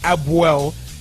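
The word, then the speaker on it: APOEL: ago we've actually got the connect correct pronunciation of apple nicosia which is abuel levcasio i'm not just a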